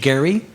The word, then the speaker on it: Gerry: name from from elbridge gary i don't know why they call it gerrymandering when it's elbridge gary with a hard g but uh that's what